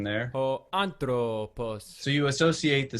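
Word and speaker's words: ὁ ἄνθρωπος: Ho anthropos. So hopefully you've heard the pronunciation there. Ho anthropos.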